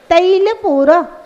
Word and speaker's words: तैल: तैल तैल तेल मत बोलना।